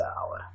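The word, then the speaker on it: hour: एंड एन आवर, because आवर जो है has silent H, इसका जो एच होता है ये साइलेंट होता है, इसको प्रोनाउंस नहीं किया जाता है। And this word is pronounced as आवर, आवर pronounce किया जाता है।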